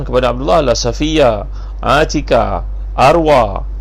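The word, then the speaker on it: أروى: Dan saudara perempuan iaitu makcik Nabi SAW, ini adik-adik perempuan kepada Abdullah adalah Safiyah, Atika, Arwah. Bukan arwah, arwah, ejaan arwah, alif, ra, waw, ya yang tak ada titik tu, Arwah.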